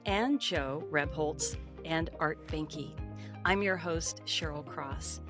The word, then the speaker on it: Behnke: And the way to spell my name is Art, A-R-T, and last name Behnke, B-E-H-N-K-E. I'll spell it phonetically as well.